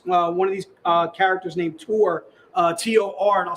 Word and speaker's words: Tor: It is basically Hellchild coming up against one of her arch nemesis, one of these characters named Tor, T-O-R, and I'll spell that for you.